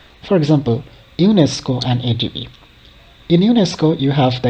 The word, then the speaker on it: ADB: as a word itself, but it is pronounced as a sequence of individual letters like A, D, and B, or L, C, D.